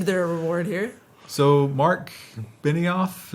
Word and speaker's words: Benioff: So Mark Benioff, is that how you pronounce that? Yeah, Benioff. Benioff. Is the Salesforce CEO. It's Benioff. Benioff.